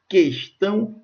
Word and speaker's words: questão: trema porque o hu não era pronunciado a pronúncia é extinguir questão e arquipélogo e o tema só era usado